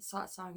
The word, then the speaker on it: satsang: And so I just, satsang is natural. The A's sound like Oz.